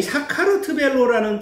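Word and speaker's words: საქართველო: 이게 발음이 되게 어려운데요. 사카르트벨로. 이 사카르트벨로라는 뜻은 무슨 뜻이냐면 조지아는 본인들의 조상이 노아의 후손인 야벳이죠.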